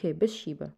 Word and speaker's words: Bathsheba: How can I know how this pronounce? Okay, here. Bathsheba, right.